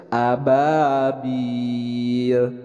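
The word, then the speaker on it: أبابيل: Jadi dibacanya jelas tanwin bertemu dengan Hamzah ini adalah dibacanya izhar dibaca jelas Ababil baik kita baca barang-barang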